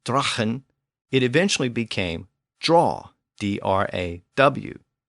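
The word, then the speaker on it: dragan: So as we saw earlier, sagu eventually became saw, and the word D-R-A-G-A-N, pronounced drachen, it eventually became draw, D-R-A-W, and L-A-G-U, pronounced lahu, became law, L-A-W.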